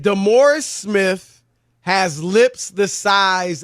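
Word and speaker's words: DeMaurice: this morris d-u-m-b-o-r-i-s-s now his name is spelled d-e maurice it's the morris but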